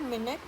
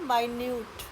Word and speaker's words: minute: पहला है मिनट और सेकंड है माइन्यूट।